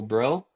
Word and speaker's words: Brough: on LinkedIn under Bro. And I look forward to connecting with some of you. O U G H Bro. That's right. B R O U G H I'm pronounced like what's up, bro.